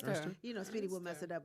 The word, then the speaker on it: Earnster: Ernster.